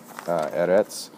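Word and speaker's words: אֶרֶץ: created everything um the the word Earth I believe is on your sheet there as well erets is how we pronounce that and it just basically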